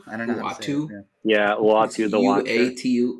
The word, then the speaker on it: Uatu: whose name I can never remember how to pronounce. Is it Uatu? I don't know. Uatu.